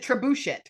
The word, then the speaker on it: trebuchet: Or is it trebuchet? It's trebuchet.